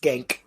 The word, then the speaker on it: Cenk: It's pronounced Genk.